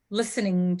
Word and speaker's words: listening: listening the verb listen you don't pronounce the T listening to music yeah listening